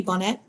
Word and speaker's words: Bonnet: name please Bonnet okay so you pronounce the T all right all right